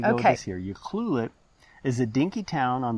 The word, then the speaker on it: Ucluelet: as ukee by the locals and it is pronounced you ucluelet which is a local first nations word meaning safe harbor ucluelet is about 180 miles from the city of